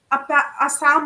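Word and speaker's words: Psalm: story सुनाने वाले थे आपको याद होगा साम ऑफ लाइफ में भी साइलेंट है जब मैं छोटी थी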